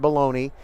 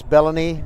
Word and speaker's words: Bellamy: say treyland's last name it is not baloney it is bellany and we said it wrong a couple of games last year for Hightower and then we got a message from treyland's parents and they let us know it's Bellamy not baloney thank you 31 to